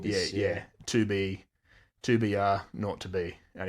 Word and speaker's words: 2BR02B: 2BR02B. And he makes a point of saying the 0 and the telephone number he pronounced was naught.